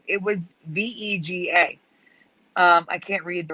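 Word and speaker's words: WEGA: s sony s series was in fact w e g a not v e g a even though it's pronounced vega there was never a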